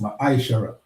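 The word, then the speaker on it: מעשר: It means 10th in the Hebrew and is pronounced maishara.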